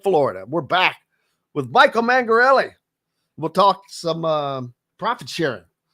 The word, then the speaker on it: Mangarelli: So how do you say, is it Mangarelli or Mangarelli? The second one, Mangarelli.